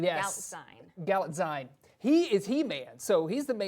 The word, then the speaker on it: Galitzine: Galitzine. Yes. Galitzine.